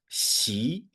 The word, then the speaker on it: Xi: yeah, and so the his surname starts also with an X. So it's pronounced as Xi.